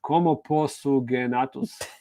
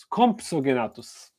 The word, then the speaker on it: Compsognathus: So no, unfortunately, we cannot add the how do you pronounce that? Compsognathus. Compsognathus.